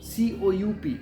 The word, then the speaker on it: coup: C O U P and the pronunciation is coup.